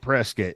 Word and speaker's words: Prescott: no well well they they just pronounce it Prescot I know it's spelled Prescott but you say Prescott and